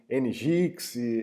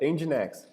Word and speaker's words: Nginx: Outra coisa, pessoal, é Nginx, tá? Vamos falar certo, não é Nginx, Ngix, alguma coisa assim. Pronúncia certa, Nginx, tá?